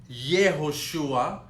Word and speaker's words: Yehoshua: In order for you to pronounce Yehoshua, under the Yud you need to put a Shva, the two dots.